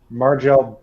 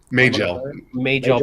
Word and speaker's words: Majel: Well, I mean, the actress, I always say her first Uh, name wrong. Margel. Margel. Majel Barrett.